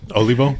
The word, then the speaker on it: Olivo: the episode good you have to excuse my mispronunciation of your last name so what is your last name olivo olivo there we go it's been a while